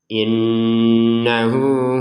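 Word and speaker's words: إِنَّهُ: Innahu huwat tawwabur rahim. Innahu di sini nun tasdid kita dengungkan innahu. Jadi jangan sudah innahu innahu gitu ya. Innahu hunya dua har dua harakat.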